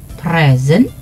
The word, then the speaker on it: present: This word can be pronounced 2 ways. One as a noun, that is present. A present, yeah? Fatin just came back from Korea. I wonder if she has any present for us, yeah? So it's present. The other one is present. Present here is a verb.